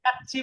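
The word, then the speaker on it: 까치: বিরিয়ানি আছে না, স্যার, এই সেম কাচ্ছি কাচ্চি বলবেন, এটাকে কাশি বলবেন না, আমি তো রাত্রে খাবো না।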